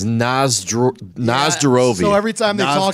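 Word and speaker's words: на здоровье: And Nostrovia is the English mispronunciation of the Russian word. It's Nazdarovia, So every time they talk to me, Nazdarovia.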